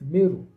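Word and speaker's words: Meroë: And their capital city is also called Meu, which is spelled Moy, but it's Meu. Now you come back to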